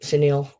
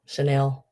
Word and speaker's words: chenille: It is that old um I always say it wrong. Chenille. Chanel. Chenille. Chenille. Chanel.